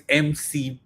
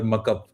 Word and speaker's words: MCP: It's MCP. You pronounce the capital words. It's not Kali or muck up. It's CLI and MCP.